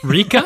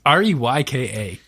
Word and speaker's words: Reyka: Rika? Is it Rika? It's Reyka. They have it on the website.